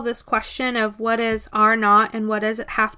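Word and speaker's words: R₀: So this R sub 0 is pronounced R naught.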